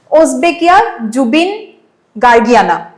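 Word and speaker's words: Osbeckia zubeengargiana: has been discovered तो ए ऑकम pronunciation to Sabo ओसबेकिया जुबिन गार्गियाना okay तो ए scientific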